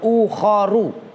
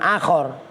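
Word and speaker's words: أخر: ukhoro maanin ukhoru makna-makna awas bacanya ukhoru karena bukan akhor karena itu maanin itu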